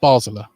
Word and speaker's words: Basler: And now gets it's Basler, sorry. Will McGowan fouled there. And the free kick just in front of the Gateshead dugout. And towards a half hour, still 0-0. But it is pronounced Basler.